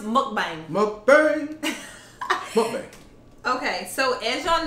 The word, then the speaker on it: mukbang: long time to say that word yes it's pronounced mukbang mukbari okay so as y'all know um we're